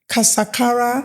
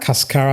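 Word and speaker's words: Cascara sagrada: macarroot pow powder and then we have how do you pronounce it? Casakara. Cascara.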